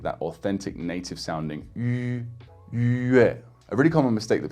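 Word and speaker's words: 月: And I guess the most common word for this would be with a fourth tone, yue, yue, which means month in Chinese.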